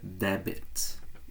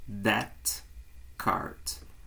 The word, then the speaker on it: debit: A gente tende a pronunciar a letra B e dizer debit, e não está correto. O correto é that card, ou seja, a letra B ali do meio é muda.